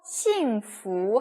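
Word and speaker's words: 幸福: 퓨라고 읽으시면 안 돼요. 부. 네. 그래서 싱후 하면은 행복하다라는 뜻입니다.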